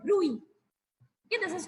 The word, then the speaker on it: bruit: This is called bruit. Okay, this is called bruit. The T is silent.